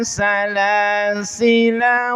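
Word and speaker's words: سلاسلا: Jadi kalau disambung lafaz salasila di sini lnya ini pen pendek dibaca pendek tah. Walaupun di sini secara tulisan ada apa? Ada alif. Ya. Secara tulisannya ada alif tapi ketika dibaca wasal maka dibacanya pendek.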